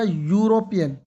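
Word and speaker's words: European: John is अ यूरोपियन। यू, देखो यहां पर ई है, लेकिन इसका प्रोनाउंसिएशन क्या है? यूरोपियन।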